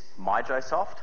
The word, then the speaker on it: MijoSoft: joomla community has and the reason it is mijosoft just so everyone knows um the actual right way to say it and can remember it up the top here like you can see it's mighty joomla software so that should help you remember how to say it all right okay one